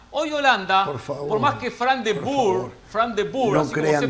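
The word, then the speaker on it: Frank de Boer: Hoy Holanda, por más que Fran de Boer, así como se pronuncia, debutaba al frente de la selección de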